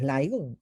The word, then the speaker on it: LIGO: a la fecha como se escribe el higo pero la pronunciación es laico en inglés ya les voy a